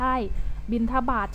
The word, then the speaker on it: บิณฑบาต: คะ เด็ก ไม่ ใช่ บิณฑบาต จะ ต้อง เป็น เสียง ทอ ตั้ง หาร สะอาด นะ